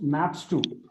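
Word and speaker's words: ↦: by the way this symbol is pronounced maps two such that and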